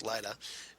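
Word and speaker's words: Lyta: where she calls out her daughter lita zod or light azad excuse me the way they pronounce it here's lida and uh so she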